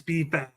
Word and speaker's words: B-Fab: Her name is B-Fab. Yeah, B-Fab. I knew what it was. I didn't want to say it wrong, but it's B-Fab.